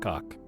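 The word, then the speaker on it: Khaak: Which reasonably should be pronounced Ka'ak. Ka'ak. But every NPC in the game just calls it cock.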